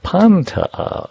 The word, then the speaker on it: Pantea: Did I say that right? Let me try. Pantea. Yes? Pantea. I forgot the see, this is why we have a taped show. Pantea. Accent on the first syllable.